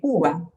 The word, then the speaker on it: uva: La U de uva. Alors, le U, mais en fait, il se prononce en français comme si c'était un OU. Uva.